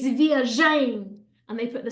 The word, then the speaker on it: viagem: But actually, we want it to sound like this. Viagem, viagem, okay? So just because a word ends in a nasal sound, it doesn't mean that we have to put the stress there, okay? That is a very, very common mistake.